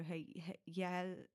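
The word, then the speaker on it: Hjejle: Yeah, I'm guessing the J is silent, so Hayelia.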